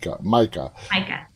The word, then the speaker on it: Micah: Did I pronounce the name right? Micah? Yeah. Micah.